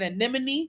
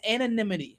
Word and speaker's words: anonymity: I kept saying anemone. No, it's anonymity.